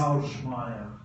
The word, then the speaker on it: Шумада: Schumada. Thanks. I met him this year, and he told me how to pronounce his last.